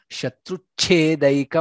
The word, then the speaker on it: शत्रुच्छेदैक: Shatruchhedaika mantram, cha mahaprana.